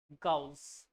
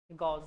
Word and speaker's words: Gauss: गाउस, गॉस, गॉस बोलते हैं, गाउस बोलते हैं, लिख लो spelling, GAUSS, denoted by capital G, USS। गॉस भी बोलते हैं, गाउस भी बोलते हैं, आपकी इच्छा है।